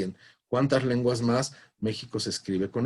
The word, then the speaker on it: México: en francés inglés y en cuántas lenguas más méxico se escribe con x esto tiene una razón de